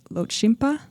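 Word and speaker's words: Lhotshampa: And so over the years, that population, and you'll have to correct me if I say it wrong, but I think it's Lochimpa.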